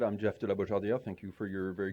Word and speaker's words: Jeff de la Beaujardiere: So as Sarah said, I'm Jeff de la Beaujardiere. Thank you for your very good pronunciation.